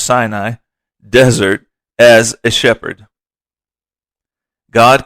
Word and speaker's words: Sinai: Another 40 years were spent in the Sinai, pronounced Sinai, desert as a shepherd.